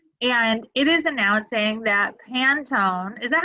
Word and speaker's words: Pantone: it is announcing that Pantone, is that how you pronounce it? I think so. In my head, I always pronounce it Panettone, like the Italian Christmas baked good, but that's not right.